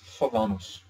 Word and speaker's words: falam: vocês falam, but actually we don't pronounce the M, and it actually becomes kind of the same as an O, except when it is